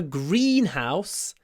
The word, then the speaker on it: greenhouse: just remember it's Greenhouse the stress is on the first word Greenhouse Greenhouse So when you say house house house can you hear I don't use my full voice house you can use breath house or you can croak house house house but you mustn't use your full voice G Green House Greenhouse not greenhous green Greenhouse so the first syllable is not too strong and the second syllable is really soft Greenhouse Greenhouse uh the next